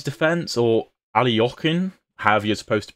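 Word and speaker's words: Alekhine: rate it unbreakable next up we have the alakin defense or alokin you're supposed to pronounce it it's it's okay it's okay um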